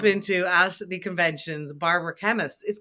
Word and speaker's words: Kemmis: at the conventions Barbara chemists his chemist is the right way of pronouncing it chemist okay perfect I